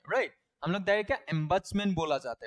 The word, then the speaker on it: ombudsman: हम लोग क्या बोला जाता है, ओम्बट्समैन नहीं बोला जाता है, नहीं नहीं वही बोल